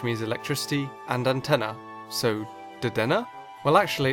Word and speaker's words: Dedenne: Up next is the newest addition to the Pikachu ripoffs, Dedenne, or Dedenne how it's spelt. The name is a combination of Denki, which means electricity, and antenna, so Dedenne?